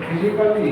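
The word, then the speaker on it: physically: तो फिजिकली ए का नहीं आ रहा, जैसे म्यूजिकली MUSICALLY, तो म्यूजिकली होगा, म्यूजिकली। फ्रेंडली, जब भी ए उसके बाद ओ के बाद 3 नियम है इसके साइलेंट के, या तो ई के बाद ए आता हो, या ओ के बाद ए आता हो, या डबल एल वाई से पहले ए आता हो, तो ए साइलेंट हो जाएगा।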